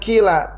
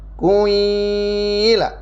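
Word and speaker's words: قيل: ada yang dibacanya kilanya ini bukan Kila tapi diismamkan ya diismamkan Eh Kanya seperti bunyi di Doma di majukan eh mulutnya seperti ini bunyinya yang kedua ya bukannya Kila tapi quila quilaa ya itu terus di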